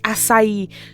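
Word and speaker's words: açaí: How to pronounce Oh, one of them is asai. So when I used to go to Starbucks, right, I would ask for, oh, can I get a frozen strawberry lemonade akai with four or three scoops of lavender powder?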